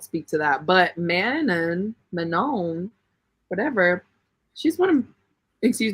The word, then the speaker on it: Manon: French version yeah but it's like the last n wouldn't even be pronounced it's like man but they don't say like that anyway uh anyway I won't speak to that but man Manon whatever she's one of